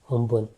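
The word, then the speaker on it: Amphan: Then cyclone अम्फान, ये किसने रखा है, थाईलैंड ने, प्रोनाउंस्ड एज उम्पुन, ठीक है, अम्फान के लिए. We pronounced it एज अम्फान, वैसे the pronunciation is उम्पुन, okay.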